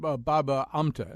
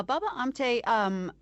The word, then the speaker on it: Baba Amte: So tell us about Baba Amta, if I'm saying it correctly. Yeah, Baba Amte, I think what you're thinking of, why he